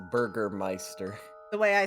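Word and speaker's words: Bürgermeister: it's literally yeah Google Google Translate says it's Burgermeister the way I spelled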